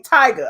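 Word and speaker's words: Tyga: it wrong so um tigger is big tigger tiger is the rapper okay tiger okay but uh so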